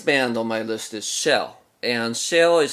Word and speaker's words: SHEL: amazing the next band on my list is shell and shell is spelled SH DL and they are a group